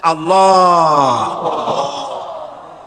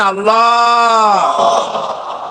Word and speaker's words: আল্লাহ: আল্লাহ পাকের নাম হচ্ছে আল্লাহ মুখটা একটু গোল হয়ে যাবে বলেন আল্লাহ আল্লাহ সুবহানাল্লাহ পৃথিবীতে বিভিন্ন